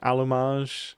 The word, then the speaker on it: allumage: saw on the screen allumage, is that roughly correct? Um, you're not really pronouncing the A right. It's like you should open your mouth more.